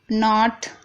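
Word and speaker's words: knot: जैसे कि नो, नॉट, knife, नॉक। तो यहाँ पर देखिए शुरू में सबसे पहले के आ रहा है, उसके बाद एन आ रहा है, तो इन सभी वर्डों में के साइलेंट है।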